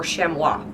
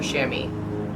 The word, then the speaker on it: chamois: so number 10 shammy or shemwa depending on what you're referring to I don't know I always get he's confused if it's a cloth I still want to call it a shemwa and if it's an animal I somehow call it a chamois but either way I'm